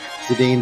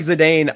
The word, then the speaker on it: Zidane: Same with like Zidane. It's supposed to be Zidane, I do believe, but I say Zidane.